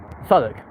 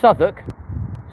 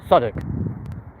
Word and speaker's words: Southwark: Yeah, Greenwich, spelt Greenwich, but it's pronounced Greenwich. Southwark, yeah, not Southwark, Southwark.